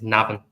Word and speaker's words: Navan: Sorry, I just pronounce it. It's Navan.